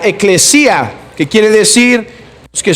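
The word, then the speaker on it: ἐκκλησία: logía viene de una palabra griega que se pronuncia ekklesia que quiere decir los que son el trabajo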